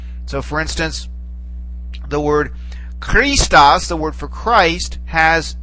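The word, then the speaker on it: Χριστός: of said a ch, Christos, like that. It has sort of a rough, guttural beginning to it, much in the same way the word for the famous composer Bach is pronounced in German.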